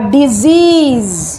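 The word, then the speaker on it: disease: আর ডিজিজ, একটাতে কিন্তু জ সাউন্ড, একটাতে স সাউন্ড।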